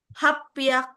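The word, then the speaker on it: 八百: 800 800.000 itu HP aku eh HP aku HP aku apa 800 bahasa Jepangnya guysakui hapiak hapiak iya double hachi kan 8 itu haci ya kan oke kalau 1000 apa R s s seng.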